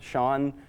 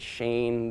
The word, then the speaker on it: Sean: Sean, the SH sound in Sean isn't a very common, I guess, verb, tense? I'm not sure. But no one was able to really pronounce it. They said Shane, they said Sheen a lot, but none of them